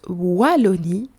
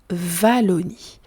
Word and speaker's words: Wallonie: Petit point prononciation, en Belgique, on prononce Wallonie et pas Wallonie.